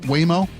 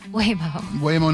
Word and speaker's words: Waymo: numerous occasions today, so I say it's pronounced Waymo. Waymo, not Waymo, like I've been saying for the last 7 years.